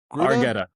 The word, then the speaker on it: Argetta: Argetta. Argetta.